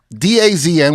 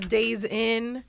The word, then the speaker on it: DAZN: Are you saying DAZN? No, you said it right the first time. Everyone says Days In, you don't Holiday In.